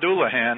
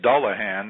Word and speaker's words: Dullahan: of the NBC Sports channel coverage it's not dulahan apparently it's dullahan that's the correct pronunciation they're apparently calling Ireland to find out the correct pronunciation but dullahan roared through the stretch um to beat Hansen